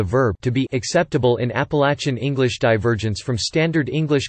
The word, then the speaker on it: Appalachia: People who live in the Appalachian dialect area or elsewhere in the South pronounce the word Appalachia with a short a sound, as in latch in the third syllable, eplat, or eplati, while